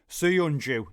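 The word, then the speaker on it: Söyüncü: Suyunju. There you go. That's apparently how you pronounce it.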